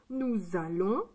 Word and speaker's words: nous allons: On n'entend pas le S. Donc nous, ça c'est une voyelle, donc on fait la liaison. Nous, ça fait le son Z. Nous allons. C'est plus joli de dire nous allons que nous allons.